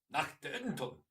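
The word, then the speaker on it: Nacht der Untoten: No, they say it properly, German. Nachte und Toten. It's got to be angry.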